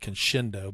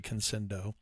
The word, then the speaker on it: Conscendo: the eflight uh UMX conscendo is it conscendo conscendo uh I think I was pronouncing it Kendo but it's actually conscendo and uh yeah Jay